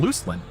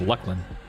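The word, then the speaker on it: Luclin: I used to call it Looselin, but apparently it's pronounced Lucklin.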